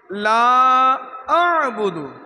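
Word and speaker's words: لا أعبد: লা আ'বুদু, বলি লা আ'বুদু। হামজার পরে আইন, হামজা এখান থেকে আইন গলা চিপে কন্টনের মাঝখান থেকে উচ্চারণ করতে হবে।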